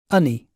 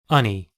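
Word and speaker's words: unni: Unny. Unny. 그러니까 영어에서는 여기 똑같은 단어가 두 개 들어가면 한 번만 발음하거든요.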